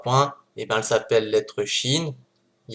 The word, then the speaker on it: شين: La lettre Shin, qui en phonétique s'écrit CH, et qui correspond au son CH, c'est exactement pareil que